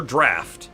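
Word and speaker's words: draught: another salubrious drought draft is it draw or draft because I'm pretty sure like the way that we should pronounce it today is draft but is that how it's also pronounced in like the older English that they're using also there's a ladder there's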